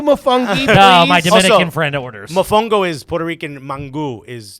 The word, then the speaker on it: mofongo: saying it right or is it my fungo it is mofongo but i'm gonna let it go what did i say my phone goes you say mofongo hello we would like